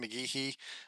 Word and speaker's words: McGehee: I am Ryan McGeehee, located down in Evansville, Indiana, working with EMI Quality Plating.